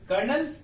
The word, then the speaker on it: colonel: पांचवा जो रैंक है ये है कर्नल, और ये सबसे ज्यादा फेमस रैंक है, इनफैक्ट हर कोई जानता है, इसकी स्पेलिंग है COLONEL, ऑलराइट, कर्नल।